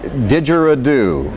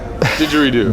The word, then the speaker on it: didgeridoo: Will Thorin is a photographer, a musician, and a didgeridoo.